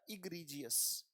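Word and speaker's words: egregious: बड़ा प्यारा शब्द है, पढ़ा जाएगा इग्रीजियस। उच्चारण बेटा अगर ना समझ में आए साथ साथ लिखते चलिएगा, इग री जी यस, इग्रीजियस, एक्सट्रीमली बैड।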